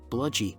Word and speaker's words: bludy: covered and adequately concealed bludy rhymes with pudgy is short for bludgeoner